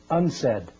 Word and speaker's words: UNCED: Nations committee for environment and development it is pronounced unsaid and perhaps indicating the secret agenda of this